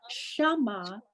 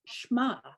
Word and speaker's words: Shema: It's not Shama, it's Shema. Shema.